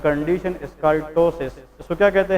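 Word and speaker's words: ptosis: the condition is called टसिस इसको क्या कहते हैं टसिस लेकिन इसमें पी साइलेंट होता है लेकिन the spelling is पी टी ओ एस आई एस टसिस P silent है लेकिन लिखना जरूर है टसिस इज अ कंडीशन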